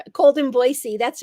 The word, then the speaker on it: Boise: see, I know how I heard someone the other day say Boise, and I said, no, it's Boise. I know how to say it properly now. Good There for we you. go. Yeah. They even have a song that says there's no Z in Boise.